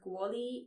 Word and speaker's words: kvôli: It is pronounced kvôli or kvôli. So let's start from the middle. This letter, the O with the roof, is pronounced wo.